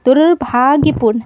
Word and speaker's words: दुर्भाग्यपूर्ण: आप एक बार बोलिए, दुर्भाग्यपूर्ण। ठीक, तो भा से पहले र का उच्चारण हो रहा है और र यहाँ क्या है, आधा है।